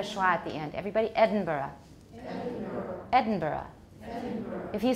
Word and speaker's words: Edinburgh: Will sound to a Scotsman from Edinburgh. Okay, the American pronunciation is Edinburgh because we don't know how to say it right.